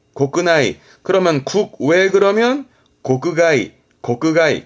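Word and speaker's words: 国内: 국내 발음은 고끄나이, 고끄나이.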